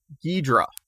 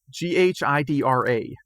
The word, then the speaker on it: Ghidra: So our feature topic this week is, I don't know how to pronounce this. Ghidra. Ghidra.